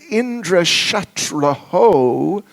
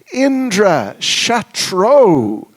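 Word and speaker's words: Indra-śatruḥ: Instead of Indra Shatraho, the enemy of Indra, they said Indra Shatro, that Indra will be his enemy.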